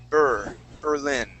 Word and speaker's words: Berlin: so instead of saying instead of saying berlin okay let's say burr berlin yeah very good birthday